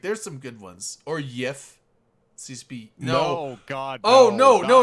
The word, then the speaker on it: GIF: JIFF, like the peanut butter, CCP but people shame. that know would know. God. Yeah, like I like there's some good ones. Or YIF, CCP.